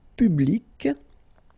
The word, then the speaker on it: public: Public. So you can see that you get this final C and then you pronounce it, public.